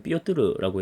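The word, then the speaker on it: Пётр: 볼 수 있는게 바로 러시아의 표트르대제 러시아 발음으로는 삐요뜨르라고 얘기를 하는데이 표트로 내재는 대단한 사람입니다이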